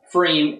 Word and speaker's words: pFriem: this go on three uses PF as its logo and frame in its advertising with the capital F to help people pronounce the name and to emphasize the